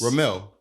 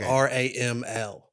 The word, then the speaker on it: Ramel: Yes, Ramel means do sand they pronounce in Arabic. It different? I think they spell it different. It's like Raml. Okay. But it's what do they call it? Phonically, it's the same.